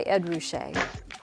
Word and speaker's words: Ed Ruscha: his white t-shirt the artist's name is pronounced edward roushay he goes by ed roushay when he was a young what you might